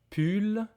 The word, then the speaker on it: pull: On a répète avec moi une veste t attention veste un pull. This is not pou. This is pull u d bot.